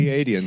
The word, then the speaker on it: Pleiadians: Pleiadians. So like a plie in ballet with the DNs at the end.